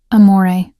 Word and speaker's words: amore: "Amore," I said softly, demonstrating the proper pronunciation. The R is barely there. It's more of a suggestion than a sound.